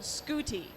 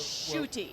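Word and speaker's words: Ncuti: some of our uk viewers how do you pronounce this and we were told scooty and we're like no it's shooty so that's so it i think that was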